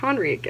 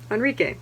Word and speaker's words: Henrique: understanding how portuguese works my brain was like henrique and i'm like that's not the h's aren't really a thing enrique that's how you say that name